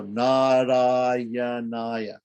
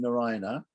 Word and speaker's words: Narayana: If we break the word Narayana into Nara and Ayana, so if it ends with a short A and begins with a short A and we put them together, that is a sandhi, which means there's a long A. So Narayanaya, right? So the first A is long, the second A is